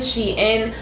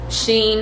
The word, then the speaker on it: SHEIN: another triangle from sheehan she in sheen however you want to pronounce it i say she in um so i got